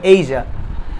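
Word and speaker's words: Asia: এটাকে আমরা অনেকে এশিয়া বলি, কিন্তু সঠিক উচ্চারণ হবে এইজা।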